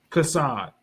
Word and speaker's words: Chaasad: So, do you pronounce your name as Casad or Hassad? Casad. Casad.